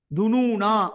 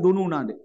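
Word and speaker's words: ٱلظُّنُونَا: அதுல நீங்க பார்க்கலாம்னு பில்லாஹி துனூனா அப்படின்னு இருக்கும்னு பில்லாஹி துனூனா சேர்த்து ஓதினா அந்த துனூனா நிறுத்தக்கூடாது அந்த அலிஃப் இல்லாம உச்சரிச்சிட்டு போயிரணும் சேர்க்காம ஓதினா துனுனா என்று என்ன செய்யணும் நிறுத்தணும் அந்த அலிஃப் அதுல இருக்கும் அதனால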